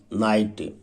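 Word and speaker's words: knight: लड़ने वाला सिपाही योद्धा नाइट के इसमें स्टूडेंट साइलेंट रहता है एन पहले कभी भी किया जाए तो साइलेंट रहता है मेलन कली मेलन कली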